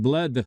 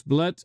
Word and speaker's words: Bled: Oh, it's pronounced Bled. I've been pronouncing it Bled. Makes sense. Pronounced Bled. Thank you for that correction, chess dude guy. Yes, Bled in Slovenia.